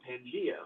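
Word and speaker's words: Pangaea: in one piece called pangia or pangia depending on your pronunciation but I think it's pangia and he actually proposed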